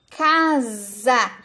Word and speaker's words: casa: Casa. Se escreve com S, mas tem som de Z.